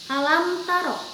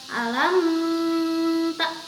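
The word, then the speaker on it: ألم تر: Ayah per Hai alamtaro Meme menghadapi huruf-huruf Ta ini adalah huruf dari izhar syafawi maka membacanya jelas alam taro Kaifa fa'ala Robbuka Bi ashabil fiil bukan alam tak itu adalah cara membaca yang salah kemudian ayat kedua alam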